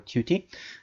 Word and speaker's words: Qt: the latest version of cute or cutie now you can pronounce it uh cute or cute there's no problem uh so if i